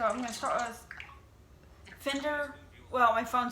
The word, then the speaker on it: Finderr: adaptive technology so i'm going to start with fender well my phone says spender it's it's spelled f i n d f i f-i-n-d-e-r-r